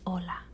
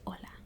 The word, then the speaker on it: hola: how to spell this hola okay so the word itself doesn't sound like it has an H because the H is silent okay so the H